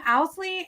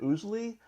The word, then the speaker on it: Owsley: yell at me, Owsley and Tyler B. Ruff. Yep. Did I get it right? Yay! Well, actually, it's Owsley, but I answer to both.